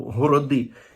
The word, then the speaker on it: город: що таке міста або городи як колись казали в нас от нас і досі кажуть город тільки з наголосом на другому о город - це огорожа